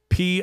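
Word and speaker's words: Pitești: been uh potesh prison spelled p-i-t-e-s-t-i looks like pitesti it's um potashed potato prison in Romania I could find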